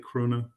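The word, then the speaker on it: króna: I think, is that how you say it, krona?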